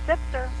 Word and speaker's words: Zipser: Mary Beth, did I pronounce that right? Zipser? It's Zipser.